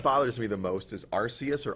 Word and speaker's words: Arceus: The one that bothers me the most is Arceus or Arceus. The anime pronounces it Arceus, but that's definitely a soft C.